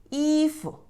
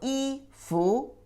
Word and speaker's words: 衣服: But put together, this one not pronounce the second tone, but the light touch tone. 衣服, not 衣服, 衣服.